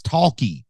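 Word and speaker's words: Tawky: talkie Tony and it's it's not talkie with an L it's talkie t a w k y and you got to say it like that W well anyway Taki tnie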